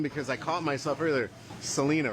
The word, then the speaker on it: Celina: Celina, right? Celina.